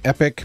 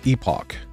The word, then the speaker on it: Epoch: hand me down okay It makes me giggle when you say it like epic but everyone else said I hear talk about says Epoch you can do both pronunciations are valid Generally in time it is probably more common now to say epoch But oldBut old fuckers like me.